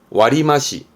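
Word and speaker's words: 割増: 많이 쓰는게 요렇게 됩니다 우리말로 읽으면 할증이라 와리마시 와리마시 마스라는 단어에서 맛이 발매와요 와리마시 와리마시 여러분 주로 머릿속엔 이게 있을걸요 그렇죠 이거는네 할인 발음은 와리비끼 와리비끼 하리는 와리비끼 할증은 와리마시 뭐 예를 들어 뭐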